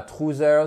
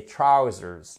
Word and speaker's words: trousers: Et c'est pas trousers, c'est trousers.